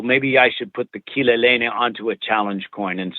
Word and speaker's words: Kileleni: And I went, well, that's just like Spanish. It's pronounced the same way, the vowels. I speak Spanish. So Kileleni became our mantra, became our go-to piece.